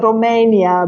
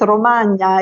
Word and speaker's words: Romagna: I used to live in Castrocaro, which is, as you pronounce it as Romania, but it's Romagna, Emilia Romagna.